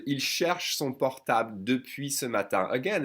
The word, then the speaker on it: ce matin: When the French speak fast, they will tend to pronounce ce matin. Skip the E and connect the S sound to matin.